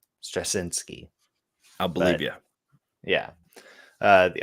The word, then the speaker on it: Straczynski: I think it's Straczynski. I think that's how you say his name, Straczynski.